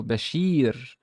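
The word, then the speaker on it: بشير: There is a kasra here because there's a ya. So Bashir.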